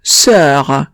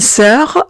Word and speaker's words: sœur: letra, En ese caso, la O no se pronuncia. Ejemplo, sœur. En sœur no pronuncia la O como si no existiera. Y como sabemos, la E y la U se pronuncia E. Entonces, la palabra sería sœur.